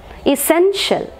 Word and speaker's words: essential: അപ്പോൾ ഇസെൻഷ്യൽ, essential, sen is given more prominence than all the other syllables.